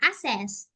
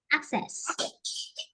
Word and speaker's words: access: dictionary I would say I say uh assess I would say assess yeah so this is called poor pronunciation because it's wrong it's wrong uh so actually we will say act act access yeah yeah because I missed k out I would say ask ask so it's wrong I act act access